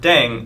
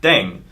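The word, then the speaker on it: 땡: playing with language now the pronunciation of deng is similar to thang which is the slang of thing in english right last but not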